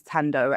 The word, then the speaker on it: Thando: So my name Thando, it's spelled with an H, which sometimes confuses some people because it's Thando. So sometimes people say Thando, but you don't pronounce the H in Zulu.